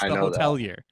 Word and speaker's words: The Hotelier: Yeah, you're not in a position where they changed their name but it's pronounced the same way, you know? It used to be The Hotel Here, and now it's The Hotelier.